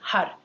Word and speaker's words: har: which means creative Infinity h a r i can't even say the r without rolling my AR if you can't roll your R that's fine it'll sound more like HUD h h with the tip of the tongue flicking the upper palette okay so that is